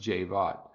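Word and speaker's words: Javad: look on his Twitter it says Jay bought pronounced javaad but I will call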